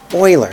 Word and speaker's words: Euler: I thought for sure this guy's name was Euler but it turns out it's really like Euler that's really the way you pronounce it but this is the correct that's